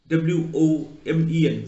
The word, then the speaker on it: women: In the word women, WOMEN, women, so that O is pronounced as I.